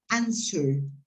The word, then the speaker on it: answer: write in the chat be careful when you pronounce this word this word sorry is pronounced answered answer yeah in this i don't know in my old very old times that used to be a commercial a commercial wrangler yeah you hadn't been born but uh the the commercial said wrangler w is not pronounced and that is right w in that case is not pronounced either yes answer okay okay